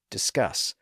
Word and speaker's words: discuss: cross as well as multi- syllable words like finesse and discuss which have the stress on the final syllable by the way notice